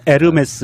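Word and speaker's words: Hermès: 아 그냥 홀리 싫어하면 에르메스 입니다 이렇게 지욱 발음이 안 난다 면서 요금이 에서 h 가 발음이 안 되니까 우리가 운무 도 호 무라 고 안하잖아요 암흑에 프랑스 요 남자로서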